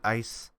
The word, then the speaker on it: ICE: with data i ice it's it's icy but people pronounce it ice counter intrusion programs and